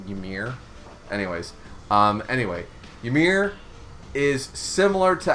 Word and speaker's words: Ymir: There's so many people pronounce it different ways. I always I pronounce the Y a little bit, and I just go Ymir.